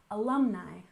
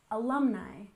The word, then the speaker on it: alumni: and finally we have alumni we stress the second syllable alumni alumni and these are students